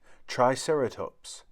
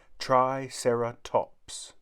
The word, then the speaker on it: triceratops: three horned face how do you say it triceratops say triceratops if these charge we'll have to get out